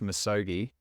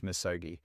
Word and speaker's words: Misogi: I going to say it right is it misogi close okay and that's part of the reason why we've gone for this name is because it's pronounced misogi but if you think Nike Nike Adidas Adidas